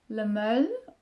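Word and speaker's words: Le Male: course this is the Le Mail, or Le Mail, wie ich das nenne. Of course it's not a right pronunciation, because it's supposed to be pronounced French, like male, I would say.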